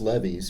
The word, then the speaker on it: levees: That one, I'm sure it's levees because there's a famous rock and roll song. Yeah. Left my Chevy.